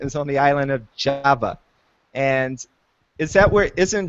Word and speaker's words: Java: what island is um Java Java yeah Java thank you okay they're laughing at me because I pronounce the the place wrong so it's in Java